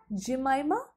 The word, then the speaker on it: Jemima: But the rap lyrics and vocal, Jemima, that's how it's pronounced.